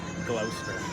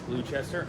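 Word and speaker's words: Gloucester: And yes, I grabbed that cheese because I wanted you guys to know that I know how to pronounce Glouster. I think a lot of people would guess Blue Chester.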